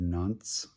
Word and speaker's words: Nantes: in the city of nunts France that is spelled n-a-n-t-e-s you ignore the E basically um it is